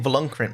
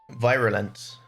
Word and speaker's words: Virulent: I've been saying Volunkrant mix this whole time. Virulent.